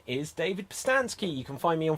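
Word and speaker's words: Pustansky: um and for myself my name is david postansky you can find me on facebook instagram and twitter at david postansky which is spelled p-u-s-t-a-n-s-k-y and you can also get a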